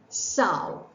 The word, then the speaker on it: sow: female pig is called Sao rhymes with cow and the act of